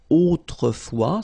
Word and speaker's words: autrefois: Autrefois, so A-U, autrefois, final S not pronounced, okay?